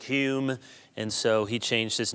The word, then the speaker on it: Hume: What David changed it to Hume, must have thought that that's how the Scots were pronouncing it and it was easier to understand how to pronounce it, that the home must have been more like Hume, and so he changed